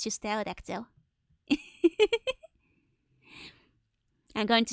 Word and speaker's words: pterodactyl: Don't pronounce the P in tail. Oh, right, pterodactyl. That's the one, not petrodactyl.